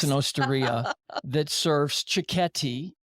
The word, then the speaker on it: cicchetti: It's an osteria that serves cicchetti, which are little Italian bites. Not cicchetti. I think I was mispronouncing that too.